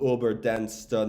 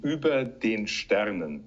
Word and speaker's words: Über den Sternen: okay uh the pro the absolutely corrupt correct pronunciation would be uber den sternen okay and and it